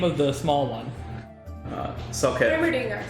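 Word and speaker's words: Soukaev: Salkev. Hammerdinger. Salkav? Yes. S-O-U. Oh, God, Robbie, nothing is spelled the way things are spelled.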